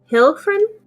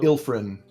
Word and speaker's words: Ilfrin: Hilfrin? Ew. Ilfrin. Like a sick friend. Ilfran.